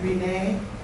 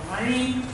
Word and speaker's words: Renee: I was named after an aunt from France. She pronounced it Rhine, like the Seine River. The Ohio pronunciation is Ren.